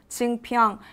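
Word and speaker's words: Jeungpyeong: I know it sounds quite hard to pronounce, but I'll repeat again for you, Jingpyeong.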